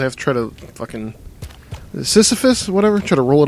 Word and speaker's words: Sisyphus: Sisyphus, whatever? Try to roll it up the hill and it's going to keep falling back down. I think it's Sisyphus, that's how you pronounce it.